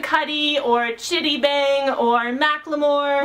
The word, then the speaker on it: Macklemore: Chitty Bang or Macklemore, which is pronounced Macklemore, not Macklemore. I pronounced it Macklemore in a video and someone was like, "You said it wrong!" And I'm like, "No, I didn't! He tweeted the correct pronunciation and this is it!"